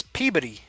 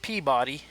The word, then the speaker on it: Peabody: a town in Massachusetts I always pronounced it as Peabody Peabody Massachusetts and he he corrected me no its Peabody not Peabody Peabody but I'm not